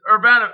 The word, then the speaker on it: Urbanovich: Okay, so the correct pronunciation is Urbanovich.